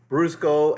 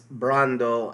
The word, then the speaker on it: Brando: I said Brusco. Actually, it's Brando.